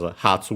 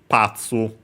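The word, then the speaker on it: 発: meaning departure uh and nowadays usually pronounced Hatsu, but originally it was Patu and so with the doubling of the consonant the P was actually kept instead of becoming Ha.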